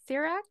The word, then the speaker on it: Cirak: gonna just take a shot at is Chris sirak sirak that's that's correct there's there's no right or